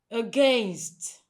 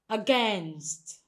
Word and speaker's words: against: Most times people pronounce it as against. Against. Very incorrect. Now the correct pronunciation is against.